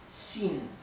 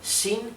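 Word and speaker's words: 新: s más suave sí por ejemplo la palabra sin que significa nuevo nuevo sí sin con el tono alto verdad no es ni Shin ni Shin es Shin a causa de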